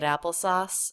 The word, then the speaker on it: applesauce: Let's just talk about syllable length for a second here. We have long, short, long. Any word in American English that has more than one syllable has just one syllable that has primary stress. So in the word apple, it's the first syllable.